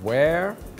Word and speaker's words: where: But for there and where, you hear the sound eh.